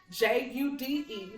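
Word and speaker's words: Judé: It's spelled Jude. There's an accent over my E, but if you don't get the accent, Jude, like the book of Jude.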